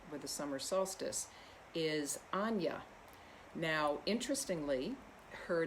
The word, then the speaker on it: Aine: the summer solstice is anya now interestingly her name is spelled in the irish uh spelling which is a-i-n-e pronounced anya in um the irish language and so when you've